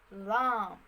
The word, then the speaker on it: lamb: in the word climb lamb lean which in the final sequence the sound or the mb letter the b sound disappeared in the pronunciation before the beginning of